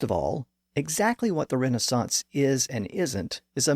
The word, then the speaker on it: Renaissance: It was the movement that we know today as the Renaissance, or Renaissance if you prefer the British pronunciation.